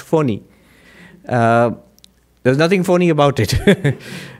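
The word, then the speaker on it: Fani: Most people pronounce it funny, but it's supposed to be pronounced phony.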